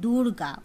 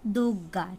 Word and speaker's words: দুর্গা: অপর দিদির নাম আসলে হলো দুর্গা, উচ্চারণে সাধারণ সুবিধার জন্য দুর্গা হয়ে গেছে দুগ্গা।